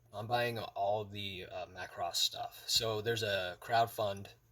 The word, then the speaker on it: Macross: to pronounce it correctly so it's it's Macross so Macross I was saying it in the wrong way so this is the